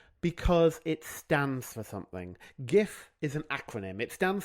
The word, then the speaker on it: GIF: But the thing I wanted to talk about is the fact that it is pronounced GIF. Some people disagree with me. Some people pronounce it GIF with a soft G.